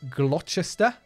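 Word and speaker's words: Gloucester: in here do and reading and glester is I'm sure the correct pronunciation so we're just going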